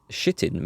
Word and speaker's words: chitin: via text right so like chitin with a CH sound at the front yeah it is it